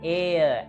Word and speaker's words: heir: We do not pronounce the letter H in these words. An honest man, an honor, an heir, an honorable gentleman.